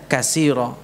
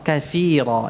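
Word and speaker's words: كثيرا: Tidak menyadari kalau membacanya kasira. Bukan kasira, katsira. Itu tha.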